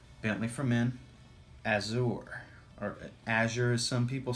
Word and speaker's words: Azure: It was a fragrance we're discussing tonight, and that fragrance just happens to be Bentley for Men Azure, or Azure as some people say, but it's Azure.